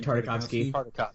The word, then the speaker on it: Tartakovsky: How do you pronounce his last name? Tartakovsky.